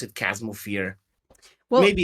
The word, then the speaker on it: Chasmal: back of my mind, like as Chasm instead of Chasmal. yeah, and Mir had actually said to me, and this is how I remember it now, because she's like, you got to think of like a chasm, like because, and I was like, oh, because that's how that's spelled.